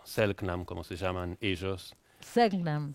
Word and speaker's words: Selknam: Hace 30 años me topé con la historia de estos ONAS o Selknam, como se llaman ellos. Selknam. ¿Cómo que es? fueron Selknam. Selknam. Algunos pronuncian Shelknam Selknam.